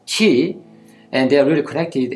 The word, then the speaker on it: qi: thoughts and habits so in korea we pronounce this ki and in china ukraine says qi and they are really